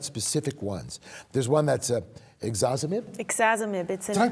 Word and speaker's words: ixazomib: There's one that's ixazomib. Ixazomib. Did I pronounce that right?